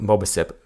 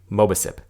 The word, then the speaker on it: Mobicip: settings as necessary you can learn more about mobile sip which is spelled mo B I see IP at defending digital calm slash go slash MOBA sip mo B I see IP and I hope